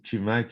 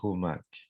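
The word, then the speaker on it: Qumak: Exemple, si je prends Noah Kumak, alors si je dis Kumak, ils vont tous partir à rire. Ça s'écrit Q-U-M-A-K. Alors, la prononciation exacte, c'est Noah Humak.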